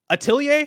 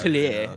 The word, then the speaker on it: Atelier: Is it French? Yeah, you got to like put the John. If it's French, then I know the pronunciation because it's Atelier in that case.